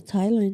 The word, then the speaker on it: Thailand: Do you say Thailand or because there's a th No, it's Thailand. I know it's Thailand, but why is there an H there if it's not pronounced Thailand?